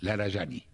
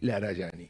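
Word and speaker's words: Larijani: Ali Larayani. Ali Larayani. Se escribe Larajani, por eso la J.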